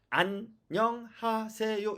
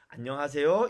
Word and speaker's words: 안녕하세요: 읽었죠 안녕하세요 이렇게 된겁니다 그런데 만약에 여러분이 쭈 암 혹은 완 안 봐 난 이렇게 잘못 읽으면 띄어 읽기 를 잘못 읽으면 마치 안녕하세요 어떻게도 읽은게 되느냐 안 명 아아 3 요안 명 하세요 이렇게 읽은게 됩니다 한국사람 중에 안 명 하세요 이렇게 말한 사람이 있나요 억 쪼 내 요즘에는 기계도 ai 도 그렇게 있지 않습니다 그쵸 자 그러면 이 중에서는 안녕하세요 이렇게 읽어야만 한국어 인거죠 한국어의 단어를 정확하게 읽은게